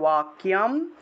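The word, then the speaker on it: वाक्यम्: ইদম, विषीदन्तम इदम वाक्यम, বাক্য আছে উচ্চারণ হবে ওয়াক্যম।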